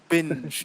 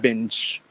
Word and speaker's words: binge: little unclear binge watching binge yeah it's a joke yeah okay yeah binge binge yeah because i i actually at first i thought you said bench watching i was like bench